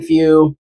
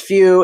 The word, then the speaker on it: Feu: I believe it's pronounced Feu. It's spelled F-E-U. If they were going for Fuego, which is Spanish for fire, I think. Y'all didn't know your boy was bilingual, huh? But that's spelled F-U-E-G-O. This is F-E-U. So it's got to be Vulcan Feu, right?